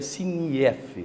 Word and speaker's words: SINIEF: ajustes, eu fiz a pronúncia aqui, SINIEF, a pronúncia seria SINIEF, seria isso, doutora?